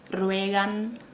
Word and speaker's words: ruegan: Entonces, la pronuncia de algunas palabras que terminan con AN. Ruegan, suplican. En portugués comúnmente decimos suplicam, rogam. En español es más abierto, ruegan.